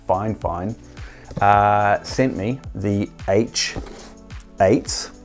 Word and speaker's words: FiFine: performing so fine fine which you would think is pronounced fifine but actually it's fine fine uh sent me the